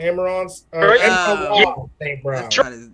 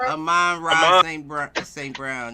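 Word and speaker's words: Amon-Ra St. Brown: Amon St. Brown. That's not how you say it. Is it Amon Ra? Amon Ra St. Brown.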